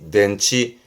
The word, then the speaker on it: 電池: 발음은 낸치 덴치 요게 건전지 그렇죠 발음은 칸치 칸치 혼자 두면 뜻은 연못이 되겠네요.